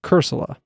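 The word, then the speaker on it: Cursola: Pokémon in certain regions because it's dead coral cerula that's how you pronounce its uh variant or it's not its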